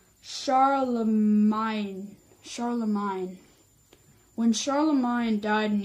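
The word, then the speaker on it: Charlemagne: Magna and show them Oh it's spelled it's pronounced sorrel of mine Sharla mine when Sharla mine died in 1814 however this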